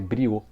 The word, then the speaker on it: Briot: mas acho que eu a pronúncia Correta que eu já ouviu já houve quem tem que falar é brio né é um francês não pode chamar de